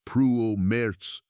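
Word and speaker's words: Prümers: Then, in May of the year 2022, a team led by the German archaeologist Heiko Prumers, pronounced Pruo Merz, published a study in the journal Nature based on airborne LiDAR, and the flooded plains gave up their secret.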